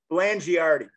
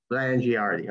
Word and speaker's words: Blangiardi: Blangiardi. Blangiardi. Okay, proper pronunciation.